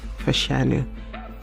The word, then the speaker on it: Fashanu: This is how you're supposed to pronounce Olu Fashu's name. His full name is Olu Muiwa Fashanu.